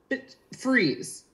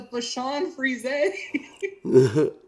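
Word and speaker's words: Bichon Frise: if you didn't know that that's how it's pronounced it's a bit freeze is what I said and they like stopped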